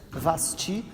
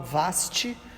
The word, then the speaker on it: Vasti: Então, diz que ele pede para que trouxesse a sua presença a rainha Vasti. Alguns falam vaste, a pronúncia aí da do nome que ela viesse, porque ele queria mostrar a beleza dela, irmãos.